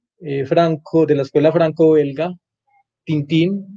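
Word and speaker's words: Tintin: Bueno, vamos a seguir aquí con otro personaje franco, de la escuela franco-belga, Tintín o Tantán, como se pronuncia, por aquí lo tengo en el celular.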